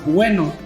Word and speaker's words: Ueno: a night walk around Ueno. Ueno is like the neighborhood, like the zone we're going to be in. This is spelled like bueno in Spanish, but without the B.